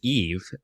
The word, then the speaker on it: Eve: I mean, technically her name is Eve, but the way he pronounces it sounds like Eva or Eva. It sounds like Eva, but yeah, it is Eve.